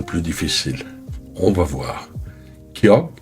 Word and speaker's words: ㄱ: Ky se prononce entre G et K. Léger, sans souffle, sans tension. La langue remonte vers l'arrière du palais et se relâche doucement. Pas d'énergie excessive, juste un son neutre. Un début de mot Kyok